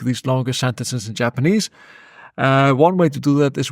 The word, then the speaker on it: を: One way to do that is with the o particle. So you'll notice that it's actually pronounced o as opposed to wo. You often see it written as wo when you're learning hiragana, but it's pronounced o.